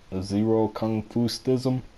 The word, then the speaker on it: ZeroKungfustism: but that's how you support that's how it's pronounced zero confused ISM I do martial arts so that's how the